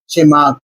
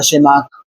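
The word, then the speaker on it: Tschermak: scientist का नाम था इनविक बोन शमार्क बेटा इसमें टी साइलेंट रहेगा शमार्क ठीक है बेटा ये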